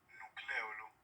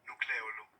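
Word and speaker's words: nucléolo: Algo interesante del nucleolo, que en realidad se pronuncia nucleolo, sino que uno como lo oye pronunciarse así tantas veces está como acostumbrado, pero se debe decir nucleolo, es que este no tiene una membrana que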